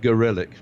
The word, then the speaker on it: Gorelick: Well, in the 1990s, Janet Reno, Jamie, I like to pronounce her name Gorlick, but I think she prefers it to be pronounced Gorelick.